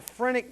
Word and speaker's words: phrenic: The diaphragm is innervated by the phrenic nerves, which originate, and I'll repeat this so don't freak out, from the 3rd, 4th, and 5th cervical spinal nerves.